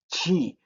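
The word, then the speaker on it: χ: phone and then the next letter is key ch key and see this one there's a way that you need to put your throat chi and uh you see like in lo and uh uh that's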